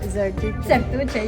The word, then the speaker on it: Zertuche: This week we have my good friend, Zertuche. Zertuche, you say it right, you say it right.